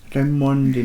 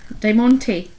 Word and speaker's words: Diamante: Diamondi medal. Diamante. Diamante. Not Diamondi. Diamante.